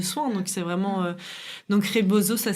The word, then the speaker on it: rebozo: ce type de soin donc c'est vraiment donc reboso ça s'écrit r E B O Z Z je